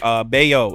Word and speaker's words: Bello: So Brian Bayo has become a bet-on pitcher for me. He's pitching so well that I've actually started pronouncing his name correctly. I was saying Bello forever.